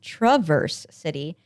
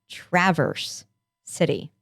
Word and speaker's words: Traverse City: for my teacher's sound but for the city they say the a like an actual short a like in cat so it's not traverse city it's traverse city okay well i stand